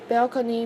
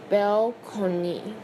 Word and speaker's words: balcony: were not bad enough, balcony makes me sick. The word is borrowed from Italian and it was pronounced balcony.